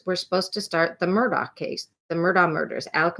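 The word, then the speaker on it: Murdaugh: Murdoch murders podcast um Murdoch is how they say it but it's spelled like murder um it's one of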